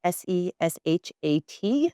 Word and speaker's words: Seshat: It's spelled s e s h a t, Seshat Press.